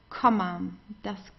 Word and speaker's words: Komma: Then das Komma, okay, the same. You pronounce the vowel very briefly.